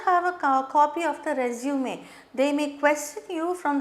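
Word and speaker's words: résumé: This is a French word with an accent, so we pronounce it as resume.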